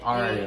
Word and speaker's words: Ayra: Ayra? Ayra Starr. Ayra. Is it Ayra? Yeah. Ayra Starr. Ayra. Like Ayra. A-R-I-A. Okay. It just spelled like. Kind of like flip the R and the Y.